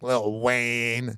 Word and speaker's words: Lil Wayne: you're probably wondering why when I say Lil Wayne I'm saying it like that cuz when you're talking about old school wazy you got to say it like little Wayne if you don't feel